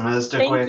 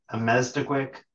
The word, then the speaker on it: Elmastukwek: think Do you want to pronounce Amestiquick. it? Sure. It's Thank Amestiquick. you. Amestiquick Damaguk.